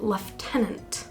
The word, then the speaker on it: lieutenant: was embarrassed I'm sorry why is lieutenant pronounced leftenant yeah why is that but who are we to